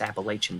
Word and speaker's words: Appalachian: Appalachian Mountains of well, we say Appalachian, but it's supposedly technically the right way to say it's Appalachian, but whatever.